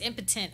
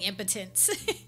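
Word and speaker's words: impatiens: some white impotent flowers I said it right this time it's impotent I've been saying impotence oh and a vow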